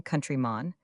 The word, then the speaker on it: countryman: Pronounced long countrymon. It usually means a native African.